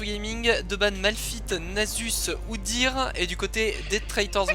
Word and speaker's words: Udyr: Ouais, comme il faudrait ajouter un tréma à Udyr pour le prononcer Udyr et pas Oudir quoi.